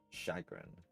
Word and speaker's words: chagrin: Chagrin.